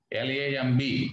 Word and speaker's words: lamb: Okay, you should not call it comb. B is silent. Comb, comb. T-O-M-B, tomb. L-A-M-B, lamb, not lamb. Okay, B is silent in all these words.